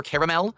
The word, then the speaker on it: caramel: Captain America oh well do I say caramel or caramel uh it's weird because it is spelled caramel c a r a m l it's not spelled caramel c a r m l but everyone says a lot of people say caramel I think when I